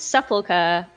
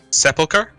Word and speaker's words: Sepulchre: Sepulchre? Sepulchre, okay. Sepulchre. yeah, it's different emphasis, isn't it?